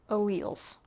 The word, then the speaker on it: alleles: We call those variants on genes alleles. That's how you pronounce that word, alleles.